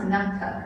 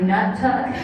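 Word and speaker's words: Naktuk: remember when it was it's pronounced nuck tuck right remember they'd always clarify they're like can you say that really clearly so it doesn't sound like nut tuck I wonder how many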